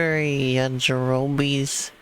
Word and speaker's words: Yajirobe: Search for Yajirobe's key.